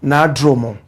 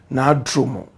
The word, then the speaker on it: Na Dromo: I hear the correct pronunciation of the name is Na Dromo. Na Dromo.